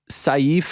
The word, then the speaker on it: Sayif: you said it right it's safe that's the correct pronunciation in Arabic it means sword so safe like safe that's that's how you say it yeah you got it